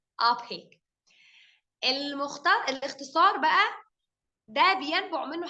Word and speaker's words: OPEC: This is an acronym because it's pronounced as one word, OPEC. OPEC.